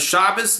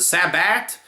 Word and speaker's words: Shabbos: not yet you know when they say get Alaya instead of gedalia right and and instead of Shabbos is the Sabbat all the mispronunciations and the Jews feel